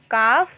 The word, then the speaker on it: calf: Calf. Calves. Now here L will be silent.